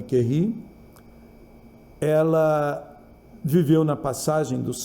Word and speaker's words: Curie: A Madame Curie, aqui a gente fala Madame Curie, Madame Curie, eu já ouvi várias pronúncias, qualquer uma serve. O mais normal seria falar Madame Curie.